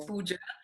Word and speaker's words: Puja: christy my name is pooja and i think the jay it's interesting because it's pronounced differently but it's puja and i'm from singapore